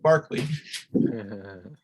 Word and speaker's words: Berkeley: I use, and by the way, for all my American and North American listeners, I'm speaking of George Berkeley, but in the UK, his name is pronounced Barclay.